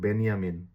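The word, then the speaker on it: Benjamin: বেঞ্জামিন, বেঞ্জামিন নামটার মধ্যে আমরা যে উচ্চারণ করলে ইংরেজিতে যে উচ্চারণ করলে হয় বেঞ্জামিন আর যদি যে কে ওয়াই এর মত উচ্চারণ করি তাহলে সেটা হয়ে যায় বেনিয়ামিন হ্যাঁ বেনিয়ামিন সো বেনিয়ামিন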